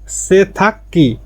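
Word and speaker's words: 세탁기: সেথাগ্গি মানে washing machine, সেথাক্কি আর উচ্চারণটা হবে সেথাক্কি মানে ওয়াশিং মেশিনে গিয়কের পরে গিয়ক আসলে আর উচ্চারণটা হবে ক, সেথাক্কি ওয়াশিং মেশিন।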